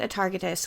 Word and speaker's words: Atargatis: To understand Atargatis, we have to go back, which, by the